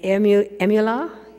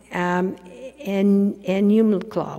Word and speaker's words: Enumclaw: Although I understand that in, got to say it right, Emula. Enumclaw, where's that?